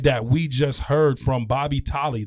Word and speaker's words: Bobby Tolley: We just heard from Bobby Tolley. Did I say it right? You got it, brother.